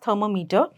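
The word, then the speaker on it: thermometer: is known as थर्मामीटर थरमो इज the spelling but we call it एज थर्मामीटर सो इट्स थर्मा metre ठीक है alright so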